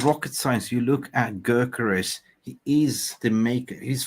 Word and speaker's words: Gyökeres: How do you pronounce Gyökeres? In Swedish. Gyökeres. Gyökeres. So you would say Gyökeres.